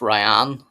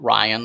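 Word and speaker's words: Rayan: It's it's pronounced Ryan, not not Ryan as in like a male's name, but this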